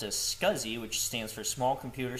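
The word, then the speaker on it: SCSI: So let's move on to our next command which is going to be ls scuzzi. So ls ssi pronounced as scuzzi which stands for small computer system interface.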